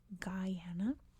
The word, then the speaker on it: Guyana: see Guana there so in English this is pronounced Guyana because it is an englishspeaking region of Gana so there's